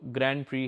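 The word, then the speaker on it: Grand Prix: में we were invited, जो ग्रैंड प्री है, जिसको ग्रैंड प्रिक्स भी बहुत बोले थे, प्रोनाउंसिएशन ग्रैंड प्री रहती है उसकी, उनकी साल में एक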